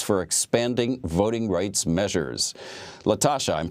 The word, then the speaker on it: LaTosha: LaTosha, I'm pronouncing that correctly, right?